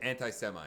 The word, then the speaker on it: anti-Semite: of anti-semi so when you throw how you pronounce it anti-semite okay i always read the word but i